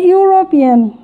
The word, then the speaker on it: European: ওকে, তো এখানে আমরা খেয়াল করি যে ইউনিভার্সিটি, ইউ, এখানে আমরা খেয়াল করি ইউ এর মতো উচ্চারণ হচ্ছে এখানে ইউরোপিয়ান।